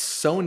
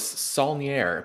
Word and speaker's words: Saulnier: Jeremy although I realize if I'm pronouncing his name wrong how do you say it it's son I always thought it was sonier but so did I yeah son is is